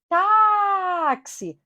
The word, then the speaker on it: táxi: Táxi. Paroxítona terminada em quê? Em I. Observem aí que a sílaba tônica é o tá.